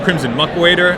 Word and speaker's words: Crimson Muckwader: And it was actually a last-minute addition because I was trying to figure out what I was considering Crimson Muckwader, that's how it's pronounced, as my 2-drop because I wanted another 2-drop.